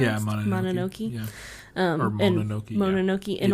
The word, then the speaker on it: Mononoke: And now, supposedly, that no-cuts policy was really thrown into sharp relief when Miramax suggested editing Princess Mononoke, I think is how it's pronounced. Yeah, Mononoke.